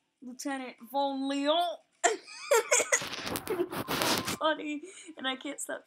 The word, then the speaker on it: Lieutenant Vonlion: And I named it Lieutenant Vonlion. Well, I'm gonna make this character a girl. But I decided that it'd be pronounced Lieutenant Vonlion.